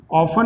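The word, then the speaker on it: often: इसके बाद नेक्स्ट जो होगा वो अपना होगा ऑफन। ऑफन मीन्स होता है ज़्यादातर, इसमें टी अपने को साइलेंट रखकर बोलना है, इसको कहेंगे हम ऑफन।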